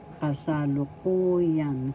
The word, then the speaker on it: kasalukuyan: is present isalogan Yan kasalukuyan first syllable ka second syllable sa third syllable fourth syllable and fifth syllable the accent is in the fourth syllable so you pronounce this